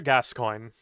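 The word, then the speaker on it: Gascoigne: yeah father gas coin is it spelled g coin it is spelled g- s c o i g NE e let R GN off yeah they're FR yeah he's French for some Irish oh that's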